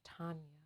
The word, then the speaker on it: Tonya: There is a way in which my name is pronounced, and my name is Tonya. It's a soft O.